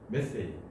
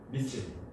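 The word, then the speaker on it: methane: 그래서 이것도 메탄이 아니라 이제 미국식은 메세이 영국식은 미세인 자 그래서 아마 화학쪽이나 뭐 이런 사람한테 내가 이렇게 제안하면은 막 유학 갔다 온 사람들은 알겠죠.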